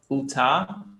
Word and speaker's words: Utah: In the US, I've been only to Florida, Nevada, California, Utah, and Arizona, and New York. Oh, wow. So, Yes. so it's actually pronounced Utah.